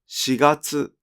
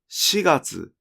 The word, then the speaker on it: 四月: ましたが、4 月にも 4 月と 4 月の 2 種類のピッチ